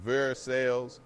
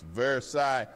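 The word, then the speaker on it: Versailles: like Foy vers ain't ver sales it's vers eye like you're tired of everyone's nonsense and Louisville ain't Louisville it's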